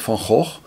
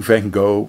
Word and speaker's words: Van Gogh: ear off like Vincent Van ho try pronouncing the Dutch way for fun fun or keep saying Van Gogh when you speak a different language you'll probably still see